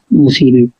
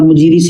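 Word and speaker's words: Muziris: इसका सही प्रोनाउंसिएशन जो होगा मतलब मुसीरी, ठीक। ये भी बोला जाता है। इंग्लिश में आप मुजीरिस से लिखा रहता है, मुजीरिस, हिंदी में मुसीरी, ठीक।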